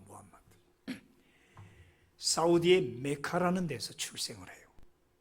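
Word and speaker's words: Muhammad: AD 570년 마호멧, 우리가 잘 아는, 영어로는 무함마드라고 하는데 영어 발음이 마호멧이고 그냥 아랍 단어로는 무함마드입니다. 군수사 무하마드 알리, 그 무함마드.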